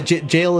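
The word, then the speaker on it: Gaol: So, it took time later on to realize, like, oh, it's just pronounced jail, because that is...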